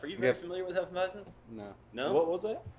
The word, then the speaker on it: Hefeweizen: Hefeweizen. Hefeweizen. Fuck, there's not an N in the middle? No.